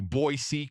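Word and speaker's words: Boise: to three years to learn how to say boyy correctly oh yeah um but I learned how to say boyy I just spell it b o y c that's a true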